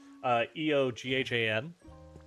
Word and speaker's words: Eoghan: meaning, I did the Celtic spelling of it, Eoghan.